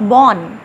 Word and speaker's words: Bonn: France के रहने वाले थे लेकिन जर्मनी से, यूनिवर्सिटी ऑफ बॉन, BONN, इसकी प्रोनाउंसिएशन भी डिफरेंट है लेकिन आप बॉन ही पढ़िए इसको।